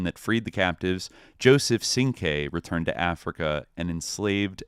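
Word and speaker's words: Cinque: George Jackson escape attempt, had already been given the name Sing-Q, but it was mispronounced as Sing-Q, where it should be, Sing-K, right?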